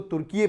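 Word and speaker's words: Türkiye: इसका नाम आप देखेंगे, टर्की से क्या कर दिया गया? तुर्की है, याद रखिए, तुर्की कर दिया गया, TURKIYE। स्पेलिंग जरूर देखिएगा, आप इसको तुर्की प्रोनाउंस करेंगे।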